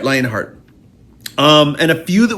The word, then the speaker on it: Lionheart: of the previous album uh lionart or lionhearted if I say it right thank you um you're right lionart um and a few